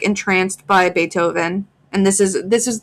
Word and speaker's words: Beethoven: He mentioned Beethoven. She had read in the library about that musician. His name was pronounced with an A and spelled with a double E.